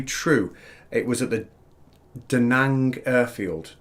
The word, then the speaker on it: Da Nang: know to be true it was at the da nang airfield da nang have i pronounced that right yes yeah right so um